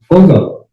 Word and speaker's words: Foggo: Is it pronounced? Foggo. Foggo.